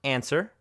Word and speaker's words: answer: In W, there are a few cases of some very common words like answer, not answer, who, whole, and to, where the W is completely silent.